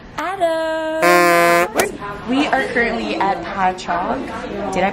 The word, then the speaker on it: Patchogue: We are currently at Patchogue. Did I pronounce it right? Patchogue, yes.